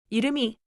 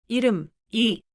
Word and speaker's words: 이름이: I see 이름이 and I want to read it as two separate chunks. 이름, 이. But native Korean sounds like 이름이, why? 좋은 질문이에요. 이름이는 표기가 그대로예요. But when we read it naturally, the 미음 소리 connects into the next syllable.